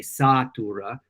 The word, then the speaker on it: satura: satis est which is a difference between a long a satura versus a short a satis satis means enough knowing